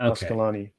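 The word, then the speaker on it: Asqalani: Is it Aqualani? Okay. Ascalani. Okay, you're pronouncing it with an S in there, though.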